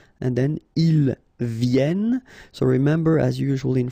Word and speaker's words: viennent: And then ils viennent. So remember, as usual in French, when we talk about conjugation, E-N-T at the end, you don't pronounce it here.